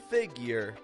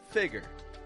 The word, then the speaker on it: figure: type of speech then get that Y sound in there making it more figure than figure now how are we